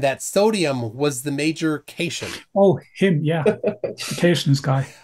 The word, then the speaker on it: cation: classes at University level he doesn't know what a cat ion is when told that it's pronounced cation turn does it go